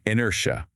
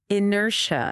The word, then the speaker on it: inertia: Inertia. Inertia. See how the second syllable is stronger? Say it with me. Inertia.